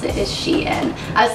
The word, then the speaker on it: SHEIN: called she and I think that's how you pronounce it is she and I was saying like Shen or something but on the website it's like